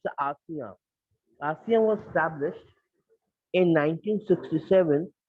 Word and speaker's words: ASEAN: Sometime don't pronounce as Asia, Asia, and but it's ASEAN.